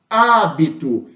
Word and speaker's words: hábito: as palavras polissílabas correto e Cérebro eu tenho a antepenúltima sílaba a antepenúltima sílaba tônica mais forte cérebro hábito quando isso acontece eu